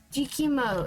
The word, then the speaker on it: Jikimo: Jikimo is how I pronounce it.